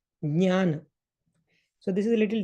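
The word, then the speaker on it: ज्ञान: Like, for example, if we just say, if we just say this, okay, so the proper pronunciation for this is jnana.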